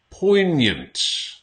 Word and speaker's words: poignant: So, poignant. Not poignant. Poignant. So it's almost like you don't pronounce the G.